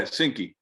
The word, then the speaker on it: SYNQY: um i know it's pronounce the name again because i know it sounds different yeah sinky we we help um really create a sync between the um the customer